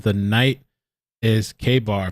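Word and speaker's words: Ka-Bar: Says the night is K-Bar, pronounced like Kmart.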